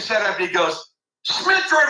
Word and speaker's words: Smitrovich: he picked his set up and he goes SMI Ric said it right right he said it right